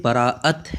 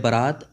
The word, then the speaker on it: برأت: صادق تک رہتی ہے۔ اس لفظ کا اصل تلفظ شب برأت ہے۔ عام طور پر جو مشہور ہے شب برات، یہ غلط ہے۔ برات کا معنی ہوتا